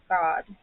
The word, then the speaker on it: Gad: go g a d is actually pronounced God a raising band raids